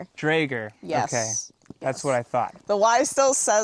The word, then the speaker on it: Draeger: Now it is Drager. Drager.